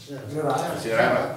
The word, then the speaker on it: Gérard: Però un consigliere di Palazzolo, Gérard, è lo francese, come si pronuncia? Gérard. Alla francese, Gérard.